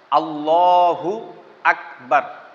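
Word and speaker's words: الله أكبر: শিক্ষা করা ফরজ করছেন আমি আবারও আপনাদেরকে বলতেছি আল্লাহু আকবার এটা হলো সঠিক উচ্চারণ আখবার বললে খয় আর যদি আকবার বলেন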